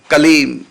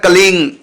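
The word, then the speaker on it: क्लीं: यदि केवल कलीम है, इसका उच्चारण होगा कलीम, कलीम, कलीम, कलीम, इस प्रकार से आप बोलेंगे। यदि आप कलीम के साथ दूसरा शब्द तुरंत जोड़ना चाहेंगे, जैसे कलिंग कृष्णाय नमः, का जोड़ दिया हमने साथ में और तुरंत जोड़ दिया उच्चारण में, माने कलीम पूरा बोला और उसके तुरंत बाद का बोल दिया, अब ये हो जाएगा कलिंग।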